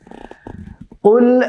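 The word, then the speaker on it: قُلْ: সুতরাং এটি হবে কুল আউযু বি। কুল বলা যাবে না, কুল বললে কিন্তু এই কাফ হয়ে যাবে, এটি বলা যাবে না, বলতে হবে কুল, কুল।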